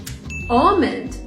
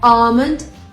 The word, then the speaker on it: almond: for it salmon almond yolk these words are tricky because they have l when you spell them but you don't actually pronounce it and by the way this is american english salmon almond yolk you're asked how